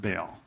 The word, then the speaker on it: Baal: is a temple to a god named Bale or you might have heard it pronounced Bale b a a l Bale uh it was